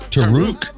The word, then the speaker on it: Taruc: I don't know how to pronounce. Let me let me give it a shot. Is it TK? Tarukq.